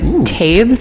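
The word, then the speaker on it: Toews: Canadian book called a complicated kindness by Miriam Taves I want to I can never pronounce it right it's t o e WS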